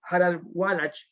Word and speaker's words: Harald Wallach: a mencionar como tal porque es un alemán, Harald Wallach, que se pronuncia así.